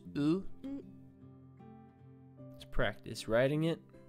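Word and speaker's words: う: It looks like you, but it's pronounced as oo.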